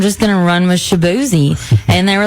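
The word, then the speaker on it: Chibueze: with c h i b u e z pronounced shabzi but it's spelled differently and if I was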